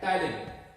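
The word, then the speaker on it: ptyalin: का दूसरा नाम है टाइलिन, PTYLIN। इसमें साइलेंट है तो नाम क्या है इसका, टाइलिन।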